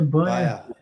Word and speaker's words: Bayer: Is that how you pronounce that? Beer, Bayer. Bayer. Sounds like beer.